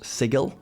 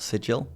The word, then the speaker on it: Sigil: D and D law it is officially pronounced sigal by the way not sigil even though I really desperately want it to be sigil it's an iconic major